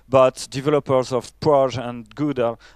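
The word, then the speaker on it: GDAL: you know probably gdr gouda as you pronounce it and ode here which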